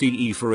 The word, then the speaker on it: Aoife: On this note, Aoife, pronounced Aoife, is I think one of the prettiest names out.